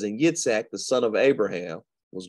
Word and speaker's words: Yitzhak: Yitzhak is really how you pronounce his name, is a faithful man.